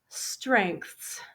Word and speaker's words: strengths: The last word on this slide, strengths. Strengths. This is a little bit difficult. We have TH plus S. Strengths.